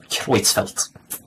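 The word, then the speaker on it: Creutzfeldt: would like that okay it is pronounced quelt quelt how pronounced thank you so much I would have never known I really appreciate that quits felt so quits felt yacob's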